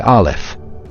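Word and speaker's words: א: Air is represented by olif since it is the initial letter of a meaning air. Olif is a silent letter whose sound is as undetectable as the invisible air.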